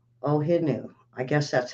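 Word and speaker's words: O'ahu: had a few over in Hawaii w o ohu ohu I guess that's how it's pronounced 2.6 uh that's one we haven't heard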